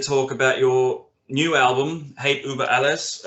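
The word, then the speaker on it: Hate Über Alles: about your new album hate uber alice uh forgive me if i'm pronouncing that terribly i'm just kidding that's right absolutely perfect thank you so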